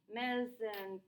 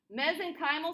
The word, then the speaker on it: mesenchymal: you um these uh mezzan mesenchymal there we go i had the emphasis on the wrong syllable mesenchymal cells these are stem